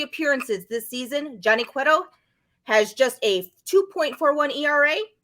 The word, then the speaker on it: Cueto: Because you pronounced Manoah and Cueto correctly.